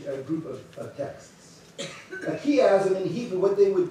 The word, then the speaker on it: chiasm: It's, I'm going to pronounce it chiasm, C-H-I-A-S-M, just a cool word, chiasm.